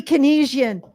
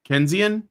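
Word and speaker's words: Keynesian: to have an economic discussion with a dirty Kenisian. Canian? Sorry. Um is that No, I mispronounced I mispronounced it.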